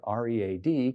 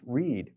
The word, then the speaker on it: read: For instance, the English word R-E-A-D could be pronounced read or read, depending on whether it's the present or the past tense.